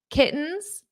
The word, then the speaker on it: kittens: how I pronounce this kittens kittens in American English when we have a t or two T's between vowels we pronounce the t's as a very soft D kittens kittens now you